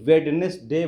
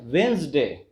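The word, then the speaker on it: Wednesday: आप इसको प्रोनाउंस करते हैं क्या बोलते हैं, वेंसडे, वेंसडे।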